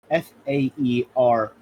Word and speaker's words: Faeryl: Faeryl. Got it. ERYL is pronounced get.